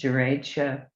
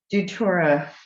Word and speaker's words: Datura: This is Duratia, how do you say it? Datura plant that was outside, and this plant has been used for a number of things.